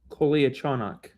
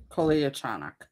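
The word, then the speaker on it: Kolyachonok: So, if you go with the NHL pronunciation guide, it is coach. Kolichanak. Kolichanak.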